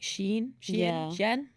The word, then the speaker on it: Shein: came out about like Shein. Never say it right. You know what I mean? Yeah, I know what you mean. It's like she, but it's in.